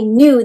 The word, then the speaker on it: knew: away well little k knew the answer oh that's a tricky word because it starts with the k new but you don't hear that k sound it's a silent k for new that word